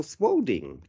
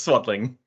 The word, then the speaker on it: Swadling: Today with me is Michael Swadling. Oh, I think I pronounced that incorrectly, didn't I? How do I You did. say it? I'm sorry. So it's swaddling. Swadling.